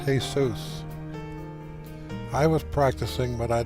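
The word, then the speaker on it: Jesús: It's pronounced Jesus.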